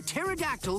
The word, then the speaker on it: pterodactyl: can't you hear a pterodactyl going to the bathroom because the silent please stop I assure you I understand the concept now the p is silent that's my girl jokes